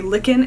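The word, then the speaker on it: Lichen: colors and this most recent color is a licken and Lace I was told it's pronounced licken and not Len so that's what I'm going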